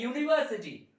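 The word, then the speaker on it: university: डालेंगे यूज करेंगे है ना तो दूसरा है यूनिवर्सिटी यूनिवर्सिटी यूनिवर्सिटी मतलब विश्वविद्यालय यूनिवर्सिटी मुंह से यूनिवर्सिटी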